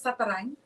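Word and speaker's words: Zatarain: Honestly, it's Zattering. Okay. So it's a French Cajun last name, but my husband's from Mexico, so it's in Mexico they pronounce it Zattering.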